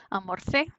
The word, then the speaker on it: almorcé: Y almorce, la Z jamás aparece antes de E o I. Así que cuando aquí debe ser E, almorcé, se cambia la C, nada más.